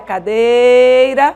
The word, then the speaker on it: cadeira: exemplo a palavra cadeira na palavra cadeira a sílaba tônica é Day Olha a cadeira ó Day certo nesse